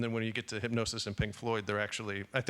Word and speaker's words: Hipgnosis: did in collaboration with the design group called Hypnosis, which is spelled Hipgnosis.